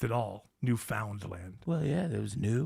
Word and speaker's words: Newfoundland: Those Vikings, they invaded Newfoundland. Yes. I'm glad you pronounced it all. Newfoundland.